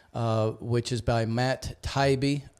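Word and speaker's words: Taibbi: which is by Matt taibe is that how you say it tybe t I think it's Tai yeah yeah I always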